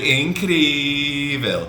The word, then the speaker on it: incrível: And then if something is like really, really incredible, foi incrível. So like you can really stretch the adjectives. But incredible, just like 3 syllables, incrível.